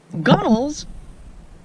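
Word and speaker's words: gunwale: that but this is the transom right here gunnels are the path that you walk on the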